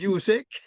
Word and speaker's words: Usyk: Usyk, Uysk, I think is how you pronounce, how it's spelled. And it's Usyk.